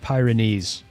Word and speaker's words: Pyrenees: P just say just pronounce it Pyrenees for God's sake.